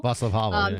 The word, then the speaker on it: Václav Havel: Václav Havel. Yeah. Thank you. Yeah, see you know. That's good. You can pronounce his name better than me.